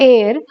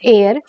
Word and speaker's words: heir: is a hair is a Heir this is pronounced the air now murder now seems